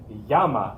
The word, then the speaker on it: llama: come from peru okay yama is how we say it in spanish so if you have a llama you could say i knew a girl named this in panama yama yama yamaya the double